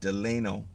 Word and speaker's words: Delano: Okay, Delano is spelled D E L A N O. Deleno, California.